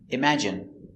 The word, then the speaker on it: imagine: They have a special pronunciation pronounced in. Example turban adrenaline heroin doctrine determine and urine. Example imagine examine engine discipline feminine and masculine.